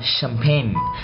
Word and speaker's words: champagne: Một số chữ ch được đọc thành âm gì? Sh. Đó. Cái dấu này là cái dấu đó, đọc làm sh. Ok. Rồi ví dụ như là champagne, champagne.